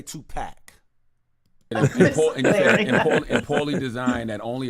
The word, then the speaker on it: Tupac: That's why I said put a pin in it, because he told that man it ain't Tupac, it's Tupac. But you couldn't even pronounce that word, buddy.